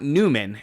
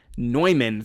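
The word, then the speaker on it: Neumann: name of the mathematician the mathematician is John Van nman not Newman in fact you can go to the Wikipedia page and it shows you how to pronounce his name noyman so I think just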